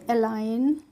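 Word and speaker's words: align: आई जी एन तो ए एल आई एन को हम क्या पढ़ेंगे इसको हम पढ़ेंगे अलाइन और देखिए यहां पर जी को मैंने यहां पर क्रॉस कर दिया इसका मतलब हमें जी को नहीं पढ़ना है तो एलाइन का मतलब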